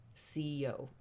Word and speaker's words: Si-Yo: as simple as that and you pronounce it just as you would the two alphabet letters c and o ceo the organization was founded